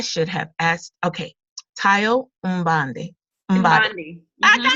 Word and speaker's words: Mbande: And Tayo, I should have asked, okay, Tayo Mbande. Mbande. Mbande. I got it, Mbande. If you have an African tongue, you're gonna say it the right way.